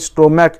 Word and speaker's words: stomach: বা ধরো স্টমাক, STOMACH, স্টোম্যাক, last আছে CH, উচ্চারণ হচ্ছে ক, লাইক এ কে, STOMACH, উচ্চারণ হচ্ছে CH হচ্ছে ক, স্টোম্যাক, ফলে এখন হবে শুধু S, স্টোম্যাক্স, STOMACHS, ক্লিয়ার।